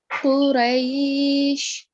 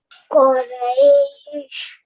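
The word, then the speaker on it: قُرَيْش: Okay, this one has a thick sound, so we have to round our lips. Okay, and get the thick sound. Quraysh. Try. Quraysh.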